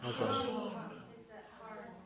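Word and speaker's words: חָזוֹן: Chazon. Chazon. Yeah. Oh, man. The guttural. Yeah. So it's not like we pronounce it k, like the kazon, or ch, chazon. It's ha, chazon.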